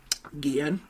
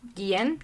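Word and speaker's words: Guillén: played by harvey guillen guillen i think it's it's guian okay yeah um so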